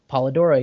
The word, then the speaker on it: Polidora: is that the pr a correct pronunciation of your name paladora uh paladora yes okay um and uh